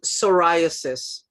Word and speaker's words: psoriasis: It's good for uh sor uh psoriasis. Is that Is that how you pronounce it?